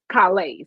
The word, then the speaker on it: Calais: Is it Calais? Yeah, Calais. So Calais. I'm from Louisiana, so that S is silent, so it's Calais.